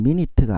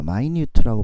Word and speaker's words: minute: 이때 발음은 minute가 아니라 minute입니다. minute라고 발음했을 때는 세세한이라는 형용사가 되죠.